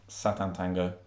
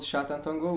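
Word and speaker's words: Sátántangó: film by Batar called Satan Tango that's not the right pronunciation is it i' I'd say it's called shatan tongo but that yours is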